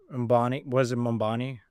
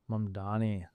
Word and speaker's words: Mamdani: Mambani? The election. Mamdani. Yeah, no one can pronounce his name.